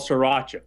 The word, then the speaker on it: Sriracha: how to pronounce this sauce how do you pronounce this thing it's called Sriracha Sriracha okay sriracha and this is a nice